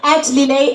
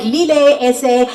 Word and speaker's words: Lillet: @Lillet is the handle. Use the hashtag LilletSA and hashtag it's pronounced Lillet.